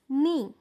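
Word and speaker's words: knee: पहिला शब्द काय आहे नी याच्या स्पेलिंग मध्ये तुम्हाला के लिहिलेला दिसतोय पण त्याचा उच्चार होत नाही त्याचा उच्चार नी असा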